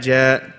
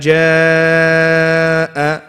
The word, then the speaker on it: جاء: You shouldn't be saying إذا جاء. No. إذا جاء, keeping it open. طيب, that's the first thing. Second thing is جاء, which is a mad you will cover, is a mad muttasil. You have to make it at least 4 to 5 counts.